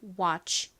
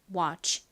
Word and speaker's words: watch: 우어 워워워워워 소리가 됩니다 그래서이 단어의 앞부분은 와 혹은 워와 같이 발음이 돼요 자 그리고 그고 다음 tch 무슨 소리 나나요 소리 되죠 그러니까 연결하면 watch 됩니다 watch 따라해 보세요 watch 좋습니다이